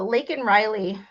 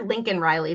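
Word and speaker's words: Laken Riley: the thumbnail I the lake and Riley case starts tomorrow and lake and Riley um Joe Biden could never say her name ever say he called her Lincoln Riley the only time he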